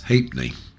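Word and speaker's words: ha'penny: Two old pennies will be voiced as tuppence and a half penny would be pronounced as ha’penny .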